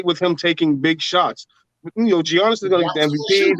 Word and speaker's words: Giannis: The G silence cut. I'm not calling that nigga Giannis. That just sounds crazy. Oh man, can't pronounce the G like Gucci.